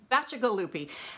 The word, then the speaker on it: Bacigalupi: we get the final word on how to pronounce it he said yes it's magical loopy and then he went into a very long